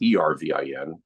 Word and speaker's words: Ervin: He spelled it differently. It's Ervin, and I'm Irvin, but they're pronounced exactly the same.